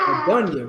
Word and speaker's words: Adonai: Okay, it sounds like Adonia to me, Adonai, but like the way we pronounce it is Adonia, right?